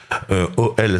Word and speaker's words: Ohel: Je voudrais juste déjà préciser que Oel Sarah, ça veut dire la tante de Sarah, avec bien sûr une référence dans la Torah très très forte.